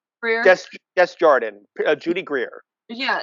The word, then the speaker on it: Desjardins: Desjardins, Judy Greer.